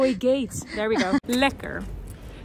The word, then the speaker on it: lekker: Lekker. And you spell it L I K K R IR, lekker.